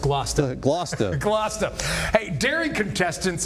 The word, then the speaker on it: Gloucester: It's actually pronounced Glouester.